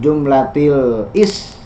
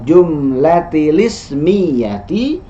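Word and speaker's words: الجملة الاسمية: Bainal jumlatil ismiyati, nah ini salah pengucapannya ya, bukan jumlatil is, karena i dari ismiyah, i dari ismiyah itu hamzah wasl. Hamzah wasl kalau di tengah tidak dibaca i-nya, maka bacanya bainal jumlatil ismiyati wal jumlatil fi'liyati.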